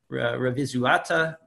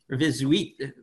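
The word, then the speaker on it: Revizuită: We're working with Ediția Dumitru Cornelescu Revizuata. Did I pronounce that right, Tavi? Probably not. Revizuita. Yes.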